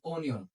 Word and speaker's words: onion: Okay, the second one is O-N-I-O-N. It is not onion. আমরা বেশিরভাগই বলি onion, মানে পেঁয়াজ, ঠিক আছে? বাট উচ্চারণটা হবে onion, onion, onion.